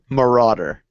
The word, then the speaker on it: Marauder: Marauder.